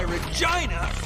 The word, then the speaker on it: Regina: Oh, that's why Regina rhymes with fun.